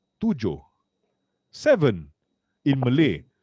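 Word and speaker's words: Toojoh: it's not so my company is actually called tujo seven in malay it's not spelled exactly like the word in malay but it's pronounced the company name represents the entire methodology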